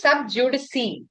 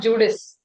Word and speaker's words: sub judice: Okay, it's pronounced sub judice. Okay, not Judas.